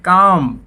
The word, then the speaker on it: calm: जैसे PALM बोलते हैं पाम, हथेली, तो यहाँ पे एल साइलेंट। CALM बोलते हैं काम, काम मतलब शांत।